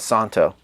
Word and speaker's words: Szanto: gonna love these and the Z is silent they're saying so I'm just going to call it Santo is that Santo Santo I don't care it's Santo for me that's what I'm going to say vintage style time rediscovered